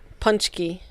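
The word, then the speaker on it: pączki: family pronounces it not correctly either, but it's Punchki.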